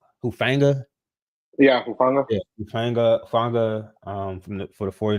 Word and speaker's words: Hufanga: then they added to what how you pronounce his name? Hufanga.